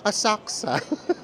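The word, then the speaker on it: Asakusa: hotel ay sa Asaka Tama ba yung pronunciation ko hindi daw binabanggit yung you Asaka doon sa area na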